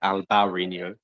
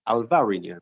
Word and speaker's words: Alvarinho: refuse to label it alvarino it's alvarinho because that's how it's pronounced and that's how it's